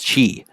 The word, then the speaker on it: qi: also pretty common in traditional Chinese medicine is qi, which is spelled Qi, which is the central life energy,